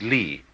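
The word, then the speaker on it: 理: Good judge in the law courts and this word uh like this you know um is pronounced lee.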